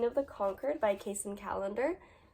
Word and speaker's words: Callender: And for this one, I chose Queen of the Conquered by Kacen Callender. Yes, I said that right. But it's spelled differently than calendar.